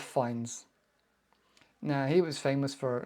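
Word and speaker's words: Fiennes: is Finns finds other it sounds like the other guy Ralph finds now he was famous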